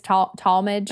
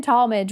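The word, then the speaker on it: Tallmadge: Yeah, I think it's Talmadge, maybe.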